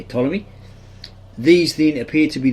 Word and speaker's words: Ptolemy: which is actually ta you don't pronounce the p same with ptolemy you don't say paton you say ptolemy these then appear to